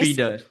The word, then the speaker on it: Peter: It sounds like a D sound, like Peter. Aha, I get that. Peter. Mm-hmm. Okay, nice. Peeder.